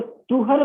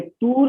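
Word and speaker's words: طهر: तो तुहर period I think आपको समझ में आया होगा। कुछ लोग इसे तूर भी प्रोनाउंसिएट करते हैं, अरबिक ओरिजिन का टर्म है, हम लोग हिंदी भाषी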